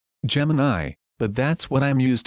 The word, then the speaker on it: Gemini: This is its interface as I'll do besides it for co-pilot and for Gemini. And I said I know they're pronounced co-pilot Gemini.